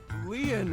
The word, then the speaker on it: Lien: yeah let's do it my name Leon is spelled l-i-e-n in French lien means